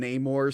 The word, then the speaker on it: Namor: his name like that when it's literally been Namor since the 60s I'm gonna lose my mind but then other characters in the movie called him Neymar and I'm like okay if they said it